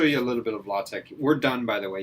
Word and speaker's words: LaTeX: And no, it's LaTeX. It's pronounced LaTeX. It's spelled latex.